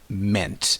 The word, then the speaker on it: meant: bit more in field the verb mean in the past form is pronounced mint mint so he took certain